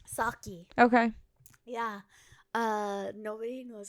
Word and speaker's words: Socci: Socci.